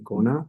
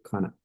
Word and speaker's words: gonna: Tiene como un tono como una K de kilo, o como una C de casa cuando se expresa, pero realmente no es que es un tono muy así ligero.